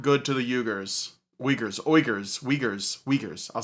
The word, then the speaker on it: Uyghur: Well, he was pronouncing it the correct way. It's a little bit like harsher in the throat area.